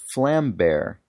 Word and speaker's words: Vlambeer: Vlam is pronounced close to flam, and beer is pronounced bear. So it's pronounced flambeer, which is easy to remember since it means flame bear.